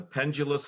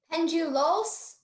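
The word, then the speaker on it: pendulous: in a sentence the pendulus flowers of the Wisteria attract butterflies pendulos they have pendulus as a correct as a pronunciation here pendulus p n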